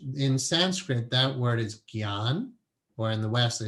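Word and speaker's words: ज्ञान: The way to pronounce that word is Gyan, G-Y-A-N.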